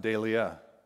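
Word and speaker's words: δειλία: this time it's in the greek it's it's pronounced delia same root word dale dahlia and this time it's translated timidity and it's in second timothy chapter 1 and verse 7.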